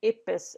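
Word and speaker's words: IPBES: researcher and also as my role in in ipis as we pronounce the interdisciplinary panel by diversity and ecosystem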